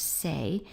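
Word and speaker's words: 生: In this case it's used with sen, it's pronounced sei, and it represents a teacher.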